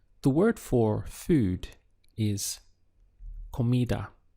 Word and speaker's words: comida: word for food is comida so the syllables would be COA Kida and to say the food